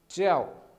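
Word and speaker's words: 叫: तो फोकस करें यहाँ पे, नी मतलब यू, ये जे है, जे को जे नहीं पढ़ते, चे पढ़ते हैं, च्याओ, ठीक है, फोर्थ टोन है च्याओ, तो इसको कहते हैं नी च्याओ, ठीक है।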